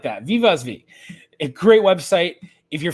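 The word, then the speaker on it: Wiewaswie: Uh Viv Vosv, which I'm pronouncing kind of in the Dutch way.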